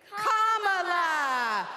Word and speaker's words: Kamala: first name to say first you say comma like a common sentence then you say la like la la la la la put it together and it's 1 2 3 comma for president